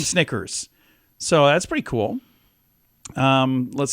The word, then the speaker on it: Snickers: had a horse name Snicker so that's pretty cool um let's see and they also said they learned the word Snickers rhymes with nickers so that's called that's